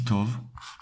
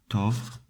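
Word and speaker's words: טוב: one the translation goes like this good means tov or tov morning means booker you pronounce it like so notice that in hebrew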